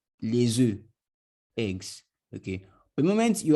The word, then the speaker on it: les œufs: The consonant that follows the EU is not pronounced.